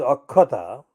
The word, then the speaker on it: Akshata: Now, the word is akshata. It can be pronounced as akkhata. It's a Sanskrit based word and it means unbroken, intact.